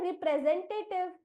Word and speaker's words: representative: Pray, आरी री, PRE pray, SEN जेन, जेन, एस की आवाज ज, सेन, TA becomes टे और TIV becomes टिव, इसीलिए इस शब्द का उच्चारण हम करेंगे रिप्रेजेंटेटिव।